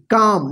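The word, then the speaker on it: calm: एम इस क्या पढ़ेंगे काम देखिए एम से पहले एल आया ना तो एल साइलेंट होगा काम त का मतलब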